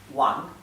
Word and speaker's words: Wang: la v es igual la W se pronuncia como una u bien la W es como una u por ejemplo hay un apellido muy común en China que es wang wang en pin se